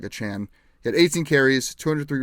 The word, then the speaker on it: Achane: Devon Achane, or Davon Achane, he sent a whole big thing yesterday talking about the pronunciation, but it's no longer Achane, it's like Achane.